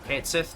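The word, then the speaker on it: Cait Sith: We're going to be going with the Kate Shei Red Party that it starts us with, or Kati, Kate Sith, depending on how you want to pronounce it.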